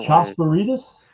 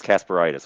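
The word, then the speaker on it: Kasparaitis: Oh, Chosperitas? Chos? That K is not a K. What is it? Kasperitis, Darius Kasperitis.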